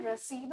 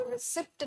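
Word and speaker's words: receipt: है मेरे स्टूडेंट्स प कोई भी इसको रिप्ट नहीं प्रोनाउंस करता है कोई भी नहीं प्रोनाउंस करता है थैंकलम सो प्राउड ऑफ यू आप इसको रिप्ट नहीं प्रोनाउंस करते हैं आप इसको रिसी प्रोनाउंस करते हैं क्योंकि आप जानते हैं कि य प है व साइलेंट होता है तो रिसी और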